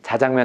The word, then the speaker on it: 자장면: 짬뽕은 짬뽕인데 자장면은 발음은 짜장인데 항상 자장으로 썼어요.